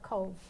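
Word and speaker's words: Cobh: Yeah, we sailed out of Cove, which is spelled C-O-B-H.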